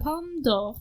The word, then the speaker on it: Palme d'Or: The Palme d'Or. You gotta D'Or. you gotta almost say the apostrophe.